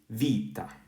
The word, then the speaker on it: βήτα: to this one okay so this would be Vita let's go here so what do you think